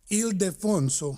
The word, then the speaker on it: Ildefonso: Is it Ildefonso Fraga Ozuna? Did I pronounce that right? No, it's Ildefonso.